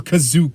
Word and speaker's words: Kashyyyk: trying to get to kashyyyk or kazook as they pronounce it here because they didn't have